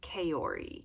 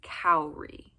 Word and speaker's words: Kaori: It's almost like the structure of the name Naomi. It's got the same vowel combinations, which is my favorite thing about the name Naomi.